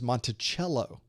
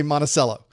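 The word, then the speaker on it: Monticello: Virginia and his uh his dwelling this place where he lived was monello well we don't say it right Florida we say monacello so very often I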